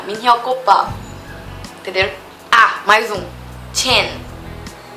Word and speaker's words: Chen: Ah, mais um Chen. Esse ch não é Shen.